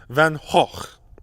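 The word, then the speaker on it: van Gogh: staying with the Dutch the correct Dutch pronunciation is Vincent van hoch but it's almost impossible for English speakers to get right and supposedly in the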